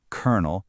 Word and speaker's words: colonel: But once you lock it in your brain, colonel, you'll never forget it.